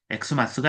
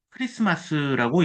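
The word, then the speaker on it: Xmas: 자, 여기서 엑스마스 할 때 엑스라고 하는 것은 엑스라고 읽으면 안 됩니다. 여기에 나와 있는 이 표기는 그리스어의 약자입니다. 그리스어로 그리스도를 뜻할 때는 크리스토스라고 이야기하는데 그것의 줄임말입니다. 그래서 우리가 읽을 때는 엑스마스가 아니라 크리스마스라고 읽어야 됩니다.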